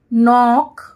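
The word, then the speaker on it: knock: Next हमारा है, sorry ये देखिए, ये देखिए लॉक, ब्लॉक, फ्रॉक, gown, brown, frown, road, boat, कोल, गोल, सोप, हॉक, नॉक, इसमें के साइलेंट है, नॉक, रोप और मोप, ठीक है।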